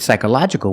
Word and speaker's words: psychological: words psychological and psychologically with psychological we pronounce the a psychological but with c-a-l-l-y